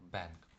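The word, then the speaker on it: bank: Та тоже буква А зажата між двома брилосми, тому більше не як банк, а як бенк.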